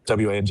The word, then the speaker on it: Wang: The Wang is pronounced Wang, even though it's spelled Wang, it's pronounced Wang.